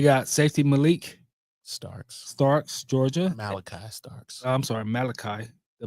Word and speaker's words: Malachi: Malachi Starks. I'm sorry, Malachi. The book of Malachi. You need to spell it like the book of Malachi so I can pronounce it right.